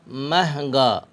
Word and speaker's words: مہنگا: میم ہے زبر مہ، زبر کو مجہول آواز میں پڑھیں گے، نون غنہ گاف الف زبر گا، مہنگا۔ میم ہے زبر مہ،